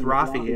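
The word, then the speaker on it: Raffi: rafy rafy rafy see I always said rafie as a kid I don't know why it's an AR it's an Armenian name Rafi yeah oh okay well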